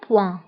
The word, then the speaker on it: point: نقطة هي un point, un point. فانتبهوا بالنسبة البوان كنكتبوها دائما بالتي في آخر الكلمة، ولكن هذه التي لا تنطق، تنقولوا un point.